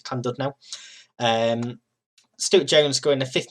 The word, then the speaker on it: Llandudno: I can never pronounce these Welsh names, but I believe it's Llandudno.